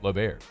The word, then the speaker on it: L'Auberge: Like, that's how you say it. It's L'Auberge. It's not Berge. It's Berge. L'Auberge.